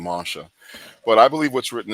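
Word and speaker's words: Moshe: We pronounce his name Masha, but I believe what's written in there, and it's very clear from his writings.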